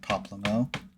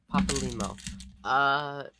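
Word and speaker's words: Papalymo: I've been saying that faster than like Poplimo. Papa Limo.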